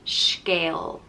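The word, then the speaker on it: scéal: on no nothing and it's pronounced like scale next up is plamos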